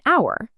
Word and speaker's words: hour: A house because the H is pronounced, but an hour because the H is silent creating an vowel sound.